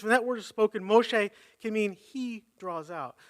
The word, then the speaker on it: Moshe: So the Hebrew word for drawn out is Moshe. And that may not be exactly right, but I'm not Hebrew. So Moshe, which sounds like Moses.